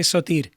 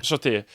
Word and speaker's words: Soter: She was descended of Ptolemy the First Soter. Is that how I pronounce it? Sorry, where are you? Yes, you could say Sotir. Yeah. Soter.